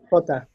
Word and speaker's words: jota: Again, like a cat hissing. Jota.